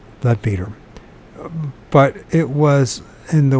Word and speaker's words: Leadbeater: references of him in the book of Leadbetter, or Leadbeater, depending on which you pronounce it. Better, I guess is Leadbeater.